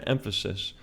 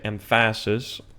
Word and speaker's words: emphasis: have let's say an emphasis. If I said the word emphasis I wouldn't say empasis unless I was just messing around right? Emphasis is on the first syllable.